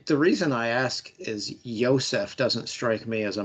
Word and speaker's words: Yosef: The mascot is named Yosef. Yes, that is correct. Yosef. Now, is it spelled with a J or a Y?